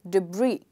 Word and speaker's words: debris: But if I stress the second part, the word becomes debris, which is the correct pronunciation of this word, okay?